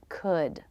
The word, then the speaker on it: could: The L is silent. So they all have their beginning consonant, the as in book vowel, and the D sound. Should, would, could. They rhyme with good, hood, and wood.